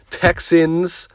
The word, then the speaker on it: Texans: All right, Texas and Browns. Not Texas. That's that illness pronunciation. Texans and Browns.